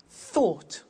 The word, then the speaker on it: thought: Think, thought. Watch that again. O-U-G-H-T, ought.